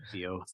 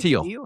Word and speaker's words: Thiel: So Theo used to Theo. Is that right? Thiel. Thiel. Yeah. The H is silent.